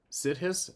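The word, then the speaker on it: siddhis: of the known sides sides of course I'm probably not pronouncing it right s i d d h i s you pronounced it right kidding supernatural abilities he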